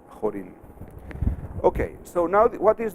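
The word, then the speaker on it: Chorin: mom he was Pollan Paul told me that he should be pronounced horan okay so now what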